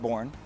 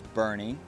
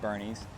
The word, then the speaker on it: Boerne: pronounce Bernie it's not born everybody says born it is not born it is Bernie like Weekend at Bernie's you've heard me say